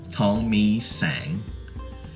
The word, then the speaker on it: Thongmeesang: I mean, I don't blame them, but I would love for them to know how to pronounce it. So, it's Thongmeesang.